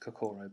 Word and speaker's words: Kakoro: Um, the the first bit is is pronounced Kakoro, by the way.